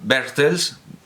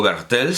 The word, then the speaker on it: Bertels: Que se puede decir Bertels, o Bertels, se puede escribir con TH o solo con T cuando estamos transcribiendo, cuando estamos transliterando en castellano.